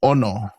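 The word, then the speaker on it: ʻono: So, this one has a okina at the beginning of the word and it's just like a um an accent. So, when you say the word, you're going to have kind of stress the the o. So, you're going to go ono.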